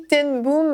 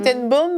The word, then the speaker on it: ten Boom: Ten Boom, il faut le prononcer. Ten Boom. C'est pas boom comme une explosion. Non, c'est pas boom, c'est boom. C'est boom parce que ce sont des Hollandais, c'est ça? Des Hollandais, exactement.